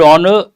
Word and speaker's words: honor: goes with indefinite articles if a word begins with a silent or mute H we should use an